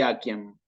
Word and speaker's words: aciem: Es Cícero y Aciem. Entonces, memorizarse. Cuando veo en latín clásico una C, la tengo que pronunciar como una K.